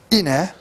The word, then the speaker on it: Ine: The next big king, following on from him, is Ine, as it's pronounced, and he had further military success, expanding the kingdom, establishing his power.